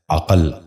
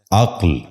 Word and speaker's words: عقل: غور سے سنیے، عصمت۔ 10واں لفظ ہے عقل۔ یہ غلط تلفظ ہے، درست تلفظ ہے عقل۔ دوبارہ سنیے، عقل۔ بچوں